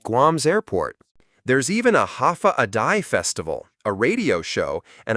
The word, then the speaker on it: Hafa Adai: Step foot on Guam and you'll hear one word again and again, Hafa Adai. Pronounced Hafa Day, it means hello in Chamorro, but it's more than that.